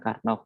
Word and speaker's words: Karnaugh: Bacanya memang Karnaugh, memang namanya seperti itu ya, yang menemukan teori tentang peta ini namanya Karnaugh.